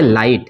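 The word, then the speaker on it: light: इसमें इसको क्या पढ़ेंगे लाइट, इसको लीट पढ़ते हैं, ठीक है, तो इसको क्या पढ़ेंगे लाइट, इसमें जीएच साइलेंट है।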